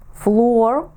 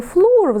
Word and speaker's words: floor: Вам треба сказати підлогам flor. А чому ж не flр, запитаєте ви, якщо воно пишеться однаково?